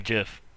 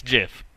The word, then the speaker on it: GIF: guy uh it's actually Jif so yeah it's Jiff it's GIF the guy that invented it recently said that that's how you're supposed to pronounce it just like the peanut butter nah it's good okay